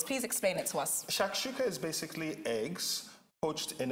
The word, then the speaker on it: Shakshuka: So what I decided to make was a North African dish called Shakshuka.